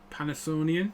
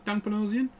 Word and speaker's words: Panosian: This is the Dan Panasonian. Is it did I pronounce it? Panasonian? Panosian? Dan Panosian.